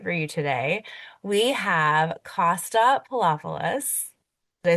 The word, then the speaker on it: Costa Poloupolous: We have Costa Poloupolous.